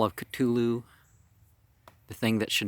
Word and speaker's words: Cthulhu: Let's start with the Call of Cthulhu. And H.P. Lovecraft said this is supposed to be said in 2 syllables, so if I make it sound weird, that's what's going on.